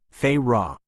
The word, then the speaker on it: Farah: I am a pilgrim under the covenant of elementalist Lady Farah, pronounced Fy Ra, a divinent mystic.